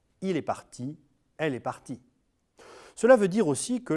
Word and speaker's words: partie: Il est parti, i, elle est partie, I e. même prononciation mais orthographe différente. Il est parti, elle est partie.